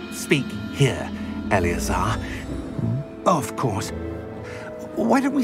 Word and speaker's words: Eleazar: Eleazar, that's how you pronounce.